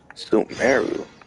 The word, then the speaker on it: Sumeru: Sumeru.